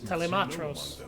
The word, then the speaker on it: Telemetros: There must be Nerazine phase Telematros, actually, is how you would pronounce that, sir.